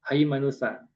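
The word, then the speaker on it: ܗܝܡܢܘܬܐ: Nah, di sini ta dibaca sa ya seperti sa haimanusa.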